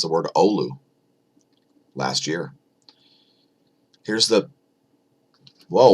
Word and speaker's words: Oulu: And thanks for teaching me how to pronounce the word Oulu last year.